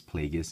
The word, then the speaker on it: Plagueis: a bth uh however Darth pagus I think that's how it's pronounced I looked it up they said it's pagus and it makes sense